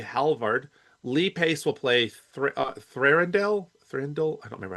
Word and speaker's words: Thranduil: Woodle will play Halvard, Lee Pace will play Thranduil. Thranduil? I don't remember how you pronounce his name. Thorndale.